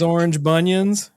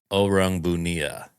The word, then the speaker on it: Orang Bunian: Kyle's coming in hot, bringing his orange bunions. Orange bunions. The orange bunions, baby. Actually, it's pronounced oang bunia, but I mean loosely translated to orange bunion.